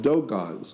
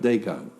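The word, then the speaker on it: Dogon: well yes yeah like dough guys that is spelled d-o-g-o-n dog not Dagon dagonism kind of similar yeah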